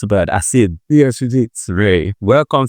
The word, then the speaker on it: Asiegbu: Did I pronounce about Asiegbu?